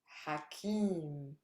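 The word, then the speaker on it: حكيم: Wise. Try it. Hakim. Stress is on kim.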